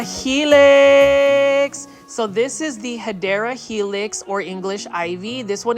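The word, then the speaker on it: Hedera helix: been to this channel I mispronounce hadera Helix as hedra Helix because that's kind of like a plant foldy staple so um don't be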